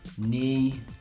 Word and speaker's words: knee: Knee is spelled knee, K-N-E-E. Knife is spelled knife, K-N-I-F-E. You know that this isn't really how they're pronounced, but it helps you remember the correct spelling.